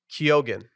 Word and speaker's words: Keoghan: 2022 and he said kogan yeah you pronounced the G or at least I do okay uh now did